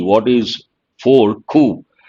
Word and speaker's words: coup: Ku. The letter P is silent, part of speech, noun.